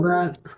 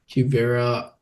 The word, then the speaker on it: Quivira: Quivria. Quivira. And what is the operation? Coalition. Okay, yeah. I definitely didn't spell that right, but oh no, you're close.